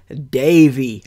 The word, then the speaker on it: Davy: love of Disney unbelievably still cannot pronounce the word Davey as in Davey Crockett not going to lie guys I'm pretty pretty excited we just arrived at the dabby Crockett Ranch which is